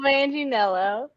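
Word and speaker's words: Manganiello: okay uh joe managing romanilla joe manginello joe manginello and that's how you say his name yeah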